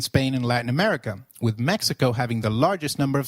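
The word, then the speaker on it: México: Did you notice that the X in Mexico is pronounced as H? While X is usually pronounced as X inflexible, it is pronounced as a throaty H in the words Mexico, Mexico, and Oaka, which is a state in Mexico.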